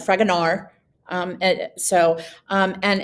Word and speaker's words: Fragonard: and it's by fragonard the d is silent fragonard um so um and